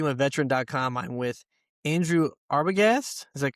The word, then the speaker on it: Arbogast: I'm with Andrew Arbogast. Is that correct? How I That's it.